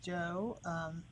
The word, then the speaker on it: Zhou: This is Fanji Joe, Zhou, pronounced Joe.